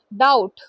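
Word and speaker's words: doubt: With का मतलब के साथ डाउट डाउट में बी साइलेंट होता है।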